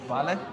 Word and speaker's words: vale: Can we learn how to say the word vale? Yes, you say that in any social interaction. It means everything and anything. At the same time. Is that enough to order? Vale. Do you like that? Vale.